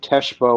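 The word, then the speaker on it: Tchibo: is called it's spelled T C H IBO and Tesho or however you pronounce it and it's really good.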